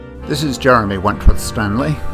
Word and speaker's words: Wentworth-Stanley: This is Jeremy Wentworth-Stanley. I'm the fellow who has a hyphen in my name. The hyphen is silent, but I am anything but that.